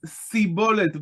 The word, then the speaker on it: Shibboleth: They cannot pronounce it as Shibboleth. How exactly they do pronounce it is a very big discussion. We read it as Sibolet, but probably wasn't like exactly a difference like an SH and an S.